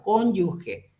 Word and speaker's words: cónyuge: pero en este cónyuge por favor pronuncien como una jota un poco más suave cónyuge que es el cónyuge